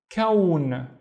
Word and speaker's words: كون: Again, think of لون and think of the other word we have seen, which was ثوب. So ثوب and لون, and كون, which is a universe, كون.